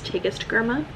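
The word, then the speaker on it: Tigest Girma: I also originally mispronounced the author's name. It's Tagist Gurma.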